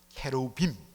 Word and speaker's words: 케루빔: 이루는 천군 천사 그룹, 더 정확하게 번역하면 케루빔, 이 케루빔인데 우리나라 옛날에 처음 성경을 번역할 때 이것을 발음을 어떻게 할 줄 몰라서 그냥 유사하게 하다 보니까 그룹이라고 했는데 정확하게는 케루빔입니다.